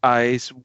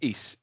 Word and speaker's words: Ys: of this word because i didn't know if it was like eyes y's yes but apparently it's east and that's the one